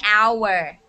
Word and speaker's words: hour: of words with h uh that have a vowel an hour okay an hour all right i will